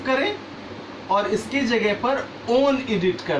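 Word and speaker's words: -one: को कीटोन्स का suffix ओन, वैसे तो ये इंग्लिश टेक्स्ट में 1 लिखा है बट यहाँ केमिस्ट्री में इसके सफिक्स फॉर्म में हम इसे प्रोनाउंसिएट करते हैं ओन, ONE.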